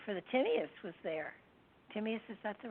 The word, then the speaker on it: Timaeus: Timaeus, is that the right way to pronounce it?